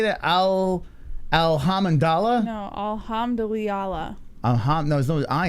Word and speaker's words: alhamdulillah: people how you say that Al alhamandala no alhamdulillah uh-huh no there's no I in there yes